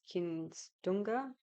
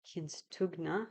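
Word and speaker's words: Kimstughna: The karana is Kinstunga. Oh, I don't think I pronounced that right. Kinstugna. There you go. I think that's better.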